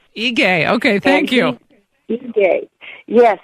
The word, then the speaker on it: Ige: Yes, the governor of Hawaii's name is pronounced Ige. Ige, okay, thank you.